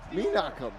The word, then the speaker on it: Menachem: Ready. Menachem. I've been saying it wrong the entire time. I apologize to Menachem Pfister.